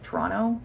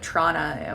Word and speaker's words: Toronto: My understanding is that natives to Toronto will say Toronto, like they don't really pronounce the second T. I definitely do, so I say the first one, Toronto.